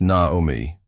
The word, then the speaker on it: Naomi: But this time, after the 3rd butchered syllable and the absent apology, she cleared her throat louder and said, "It's actually pronounced Naomi."